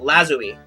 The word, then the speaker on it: lazuli: a lapis lazuli Zoe that's how you're supposed to say it lazuli that's the word i finally have heard the correct pronunciation lapis lazuli orale pass